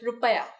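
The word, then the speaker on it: रुपया: In India, the currency is the Indian rupee, but we pronounce it differently. We call it rupaya.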